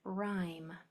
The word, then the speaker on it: rhyme: RH says the R sound. Um, what else was I going to say? Rhyth about rhythm. Oh. This is how you spell the word rhyme.